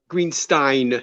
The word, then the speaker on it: Greenstein: And by the way, it's Greenstein.